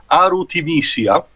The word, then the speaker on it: Ultimecia: Ultimecia, that is a very, very stupid name for the English version. Why? The actual romanization of the name is Arutimecia, which is actually how it's pronounced also for their appearance in the Dissidia games.